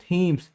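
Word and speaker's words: Thames: बहुत ही सुंदर है ना उसे डेट इस थीम्स टी ह ए एम ए एस चलिए हम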